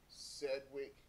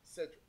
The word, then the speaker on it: Sedgwick: Now, many of you guys don't know what Cedric is. Sedgwick. That's how you want to pronounce it, but Cedric.